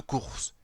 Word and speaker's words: Cours: Mais tous les cabanets continueront à l'appeler tout simplement le Cours. Eh oui, il faut bien prononcer le S final, sinon ça fait un peu court.